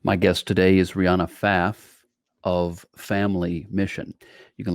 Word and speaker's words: Pfaff: faf family is that is your last name faf and it's also spelled with a silent p it is we used